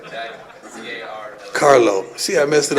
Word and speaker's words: Carlo: Jack Harlow. follow Jack Harlow. Did I say it right? Jack, C-A-R-L-O.